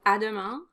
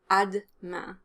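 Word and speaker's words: à demain: means see you tomorrow you can definitely drop the er after the d sound um i hear both options used i actually use both as well so it can be adama or ad ma adma adma adama adma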